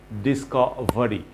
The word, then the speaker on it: discovery: লাস্টের যে RY, discovery, VERY যেটা দেওয়া আছে, আমরা সাধারণত এটার pronunciation করে থাকি very, discovery. No, the pronunciation should be discovery. Very না বলে আমাদের বলতে হবে discovery, খুব short.